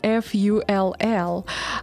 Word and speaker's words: full: Это слово пишется F-U-L-L. И оно немножко по-другому читается. Оно читается full.